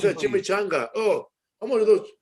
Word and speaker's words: chimichanga: Can you Is that a chickamanga? Chickamauga. give me a No, man, it's a tortilla? please? chimichanga.